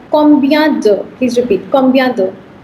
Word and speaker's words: combien: So you have an interrogatory word that's called combien de.